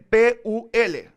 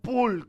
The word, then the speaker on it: Pul: Y se escribe P-U-L, no pool como de la piscina en inglés, sino Pul, P-U-L.